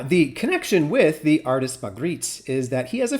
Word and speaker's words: Magritte: For reference in French, this is said as René Magritte.